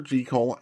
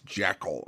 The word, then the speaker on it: Jekyll: Jel and Mr. Hyde and I know I mispronounced it earlier as Jackekal.